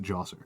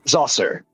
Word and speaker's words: Djoser: I always pronounce it Djoser. Zoser. Zoser.